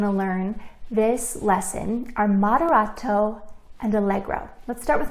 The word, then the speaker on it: moderato: Moderato. Can you say that word with me? Moderato. Now, if you're a big kid, you might recognize another word in moderato. It kind of sounds like the word moderate, right?